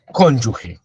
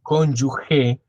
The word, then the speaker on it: cónyuge: Entonces, ¿quién es cónyuge? Cónyuge no se dice cónyuge, a pesar de que sí se dice conyugal.